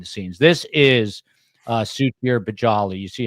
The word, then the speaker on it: Balaji: One is, I believe it's pronounced Balaji, not Balaji. Okay. So it's Suchir Balaji.